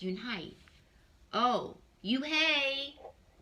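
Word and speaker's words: Unhei: name a girl asked it's spelled u-n-h-e-i it's pronounced unhype oh you hey like you hey what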